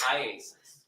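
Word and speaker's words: IAIS: of computer investigative Specialists that's I AIS Isis yes call it Isis yes um how do you say iasis iasis all right I just want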